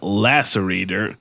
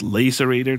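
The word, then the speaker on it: Lacerator: right this time because I said laser ater the first time but you corrected me and it's lacerate er so let me know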